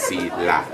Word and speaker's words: Selah: And under the Hebrew, it is pronounced Selah.